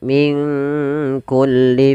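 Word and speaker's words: من كل: lebih Harusnya sama kemudian Min kulli fakihatin zaujan nun mati ketemu Kaf di sini kita namakan dengan bacaan Ikhfa maka cara membacanya samarkan nunnya kepada huruf Kaf minkku langsung kepada makhraj huruf Kaf Min kulli fakihah P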